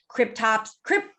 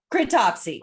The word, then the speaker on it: Cryptopsy: Cryptopsy. Cryptopsy.